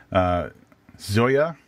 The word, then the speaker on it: Zoje: Did I say that right? I believe Zoje? You did, from the phonetical pronunciation on her Twitter bio.